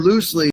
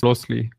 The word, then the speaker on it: Loosli: Yeah, actually it's pronounced Losi.